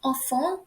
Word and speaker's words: enfin: So enfin, the pronunciation of it is very same as the one over here. I'll show you, like the one saying enfant in French, which means kids, children, or babies.